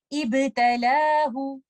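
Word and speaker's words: ابتلاه: In this example, we have to start with Hamzatul Wasl and we will recite the vowel of Hamzatul Wasl. Since second letter is not lam, we move on to the third letter. Third letter has a fatha. We will give Hamzatul Wasl a kasra and then join it with letter ba. Ba is a qalqala letter when it is sakin, so we will recite it like this. Ibtalahu.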